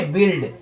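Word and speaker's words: build: बिल्ड। तो friends जो आपका सही होगा वह सही है बिल्ड। ठीक है? जो गलत होगा वो है आपका बिल्ड। तो यहां पर यू क्या है? साइलेंट है।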